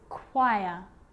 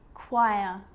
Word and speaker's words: choir: is pronounced ch but on small occasions or rare occasions it's not pronounced the h is silent so it's choir choir echo echo with a